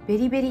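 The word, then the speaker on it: VERIVERY: 何人か書いてて、ベリベリって読むんだ。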